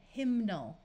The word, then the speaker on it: hymnal: Here we're going to add the muffled suffix ul to get hymnal, where you can clearly hear the N sound.